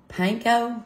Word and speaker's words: panko: We're going to pull over a bowl and add in 1 cup of panko.